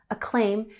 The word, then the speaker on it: acclaim: So, critical acclaim, we have emphasis on the second syllable, acclaim, and critical acclaim is like praise or a positive review of something.